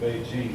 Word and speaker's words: Beijing: all along so that's why it's now called Beijing but a generation ago it was called peak